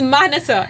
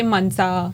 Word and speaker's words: Manasa: It's Manasa. It's not that difficult. You're Indian. Yeah. You know how to say it. Because Yeah. I understand though, like some people say Mansa, Mansa.